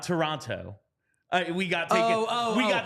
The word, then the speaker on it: Toronto: your wrongness I will continue to pronounce the city's name the way it is spelled and the way it is Toronto Toronto I'll go I'll go